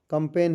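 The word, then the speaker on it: campaign: Silent है यह आपका कंपेन है इसमें जी साइलेंट है ये आपका फासन फासिन है।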